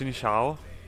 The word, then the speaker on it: Xin Zhao: listen voiceover no that's his name is pronounced in Shou which I guessed a